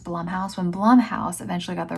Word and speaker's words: Blumhouse: But when I keep wanting to say Blumhouse, but I guess it's pronounced Blumhouse.